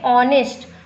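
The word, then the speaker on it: honest: Vowel तो है नहीं, लेकिन हम जब बोलते हैं तो एच हमारा साइलेंट हो जाता है। एच हम नहीं बोलते, हम बोलते हैं ऑनेस्ट, ONEST बोलते हैं, और आवर OUR, लेकिन लिखते हैं एच से ही।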